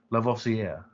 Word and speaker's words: Lavoisier: learning how to say french names like antoine lavoisier i mean that's how you say it lavocia lavoisier right that's like when hermione was teaching